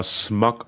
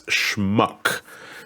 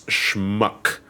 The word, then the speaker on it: schmuck: insult me with it first off it's schmuck it's not it's that is how you spell it you son of a it's schmuck there's a ch in the uh c yeah it's c8